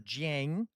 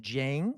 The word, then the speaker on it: Jiang: watch some of Professor Jiang. Uh I think that's how you pronounce it. Jen, is that how you pronounce it? Um, like Jane, but G I A N G.